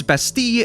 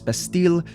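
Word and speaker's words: Bastille: in 1703 and again it's basti in French but I've always heard it as besle because the English pronunciation so apologies if I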